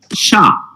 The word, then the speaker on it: chat: alycat it's just that in French cat it's pronounced sha and it's written c